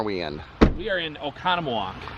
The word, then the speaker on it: Oconomowoc: We are in Oconomowoc. Say it again. Oconomowoc. You do it better than I am. Oconomowoc. Spell it.